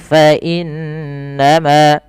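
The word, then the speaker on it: فَإِنَّمَا: Cara membacanya adalah teman-teman, kita tahan dahulu suara bunyi n-nya sepanjang 2 harokat. Fa innama, tidak hanya sekedar fa innama saja, tapi wajib ditahan dengan gunnah, dengan sembari memasukkannya ke rongga hidung kita.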